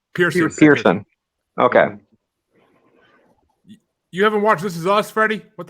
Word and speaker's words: Pearson: Is it Pearson or Pearson? Pearson. Okay. You haven't watched This Is Us, Freddie? What the fuck? I have trouble pronouncing shit, so Pearson.